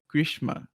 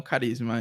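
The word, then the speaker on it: Karishma: o nome dela, assim, a pronúncia, eu acredito que é Krishma, não Carisma.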